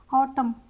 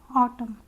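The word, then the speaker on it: autumn: ऑटम, यहाँ पे मैं साउंड आ रहा है, ऑटम, एन साइलेंट है।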